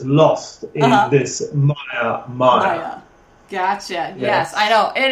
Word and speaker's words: Maya: say the ours you know there we don't pronounce the eyes um Maya m a y a is a Sanskrit word for illusion yes and